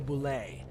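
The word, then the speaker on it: bulette: earthquakes landslides and sink holes this is the Boule and yes that's how it's pronounced I was also shocked here is the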